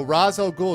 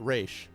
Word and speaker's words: Ra's al Ghul: So Ra's al Ghul is the proper Arabic pronunciation, but the creator screwed it up by calling it Ra's.